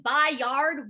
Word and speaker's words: Byard: kevin byard's name right media yeah here kevin bye yard one more time i mean come on